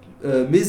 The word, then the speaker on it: mes: Yo voy a decir mes oncles. Mes oncles. Eso se dice me. El S no se dice.